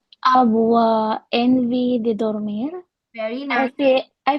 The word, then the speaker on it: envie: Avoir envie de dormir means to feel like sleeping. Okay? The pronunciation of en put together here is en.